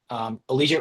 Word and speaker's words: Allegiate: Allegiate rhymes with collegiate.